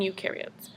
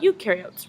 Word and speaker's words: eukaryotes: Now we're going to talk about eukaryotes. Remember, eu rhymes with do, therefore eukaryotes do have a nucleus.